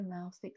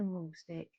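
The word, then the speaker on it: Mahlstick: Some people call it a Maulstich, some call it a Maulstich. It is spelled M-A-H-L, but I have heard different people calling it different things.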